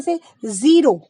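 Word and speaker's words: सज़ा: जैसे मैंने देखिए एक शब्द लिखा है सजा, अगर मैं हिंदी का ज बोलूंगी तो होगा सजा। सजा का मतलब होता है सजाना, किसी भी चीज को डेकोरेट करना। लेकिन अगर मैं ज के नीचे बिंदु लगा दूंगी, नुक्ता लगा दूंगी, तो वो ज ना रहकर बन जाएगा ज, सजा। सजा मतलब किसी को दंड देना, पनिशमेंट देना। ठीक, इसी तरीके से एक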